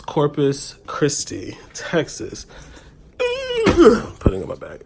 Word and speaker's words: Corpus Christi: So I was saying like corpse, and I was thinking to myself like that is definitely not how you pronounce it.